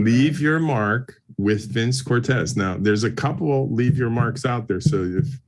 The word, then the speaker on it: Cortese: Yeah, so it's Vince Cortese. That's it. The proper pronunciation. We were raised Saint Cortez, so we go with what Dad said.